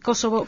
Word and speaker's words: Kosovo: Sí, vamos a ver, los kosovares de albaneses dicen Kosovo. Lo que pasa es que ellos utilizan declinaciones, y puede ser Kosova o Kosovo, pero cuando pronuncia Kosovo es Kosovo, con el acento tónico en las 3 sílabas.